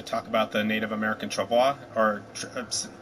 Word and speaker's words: travois: And next, we're off to our first stop on our journey to talk about the Native American travois, or you hear it pronounced different ways, travois or travois, but to learn about